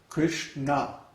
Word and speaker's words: Kṛṣṇa: Kṛṣṇa. Kṛṣṇa. Yeah. And it's hard for us Westerners to hear the difference, but the people from India can hear the difference between na, na. Those different pronunciations.